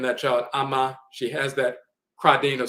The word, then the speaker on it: Amma: Amma is a title, but sometimes that name is pronounced instead of Amma, it's Emma.